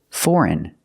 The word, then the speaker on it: foreign: that follow the rules foreign and campaign we see the GN at the end and the g is silent foreign from another country